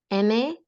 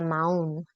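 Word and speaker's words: mahón: M-A-H-O-N. M-A-H-O-N. That is not pronounced mahon. You are dangerously close to the word mojon, which means a turd. So do not pronounce that H. It's a maun.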